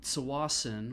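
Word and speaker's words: Tsawwassen: take the ferry to sawason which i pronounce with the t and nobody else does um and then we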